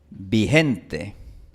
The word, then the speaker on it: Vicente: Si tú estás en el campo, realmente en el campo de la costa del Ecuador, vas a escuchar personas que pronuncian vigente. Vigente.